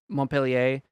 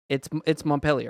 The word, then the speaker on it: Montpelier: here, but it's obviously, I'm not pronouncing it Montpellier. That's bad French pronunciation, but that's more the French pronunciation, right? But it's one of these things where it's been Americanized. Like it's Montpelier. It's similar to the here.